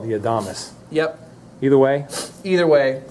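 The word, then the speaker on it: Adamas: And I've heard people call it the Adamus. Yep. Either way. Either way. Yeah. Either way, Adamus is probably is probably the proper pronunciation.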